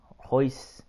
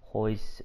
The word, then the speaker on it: Royce: All his children's names start with R's. But you don't pronounce the R. It's more like an H or a silent R. Of course, we all know who Royce Gracie is.